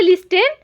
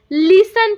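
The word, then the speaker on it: listen: पढ़ेंगे लिस्टेन पढ़ेंगे क्या जीने नहीं हम इसे लिस्टेन नहीं पढ़ेंगे। इसे हम क्या पढ़ेंगे? लिसन पढ़ेंगे।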